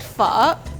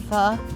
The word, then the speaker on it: pho: This is called brisket pho.